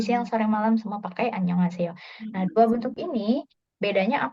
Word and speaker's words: 안녕하세요: Tapi kalau Annyeonghaseyo.